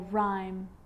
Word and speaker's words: rhyme: And with an R, rhythm, or rhyme. Good news! The I is not usually silent. It's usually pronounced, except in the word business.